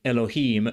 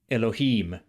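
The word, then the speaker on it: אלהים: In Elohim, you can hear the longer vowel in im in Biblical Hebrew. Elohim, Elohim, or Elohim.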